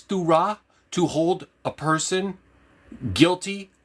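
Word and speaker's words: Thurah: So, Turah, which is, that's how you pronounce it. T-H-U-R-A-H. Turah.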